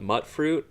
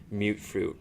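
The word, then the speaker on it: Mutfruit: I always called it mutt fruit. It's just how it looks like it should be pronounced, but it's mute fruit. Mutated fruit is what it stands for, I guess.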